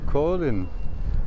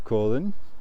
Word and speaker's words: Kolind: next step is so my friends welcome to Colin actually I just heard it's not pronounced colind but Colin and Kena Keno is the end